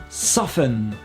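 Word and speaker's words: soften: c'est vous qui choisissez en revanche pas le choix pour adoucir ce sera forcément sofun 100 fun voilà j'espère que ça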